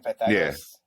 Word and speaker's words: Pythagoras: Is that how you say his name, Pythagoras?